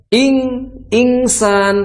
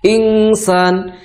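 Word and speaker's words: إنسان: Jadi jangan sampai juga dibacanya ingsan. Kalau ingsan itu jadinya bukan pertengahan bunyinya. Jadi akhirnya full suara dengung hidungnya, suara gunahnya itu dominan jadinya. Kalau insan, ayahsabul insan itu kurang sempurna.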